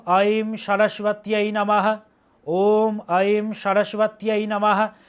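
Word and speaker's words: सरस्वत्यै: ওম আইম সারাসবাতই নমহ। যেইভাবে উচ্চারণ করছি সেইভাবে উচ্চারণ করতে হবে। কিন্তু সরস্বত্যই বললেও হবে। কিন্তু প্রপার সংস্কৃত উচ্চারণ করুন। সারাসবাতই আর সরসত্বই তফাত আছে ওম আ সারাসবাতই নামাহ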